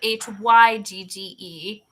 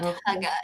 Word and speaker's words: hygge: Have you heard the term Hygge, but it's spelled h y g g e, but Hygge is how you pronounce it.